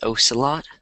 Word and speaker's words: ocelot: I'm guessing it's an animal, and it's either, I think it's ocelot. Let's check though. Ocelot. Ocelot. I think that's how I would pronounce it, but it might be wrong.